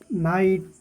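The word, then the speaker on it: knight: के silent, knock, नाइट, knowledge, के silent.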